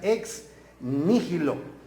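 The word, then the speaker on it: ex nihilo: l una n Perdón ex Nilo que se pronuncia ex Nilo ex Nilo ex Nilo es una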